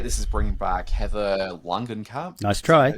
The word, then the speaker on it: Langenkamp: so I appreciate this is bringing back Heather Langenkamp. Nice try. Is that how you pronounce the name? Yep, And Langenkamp, yep.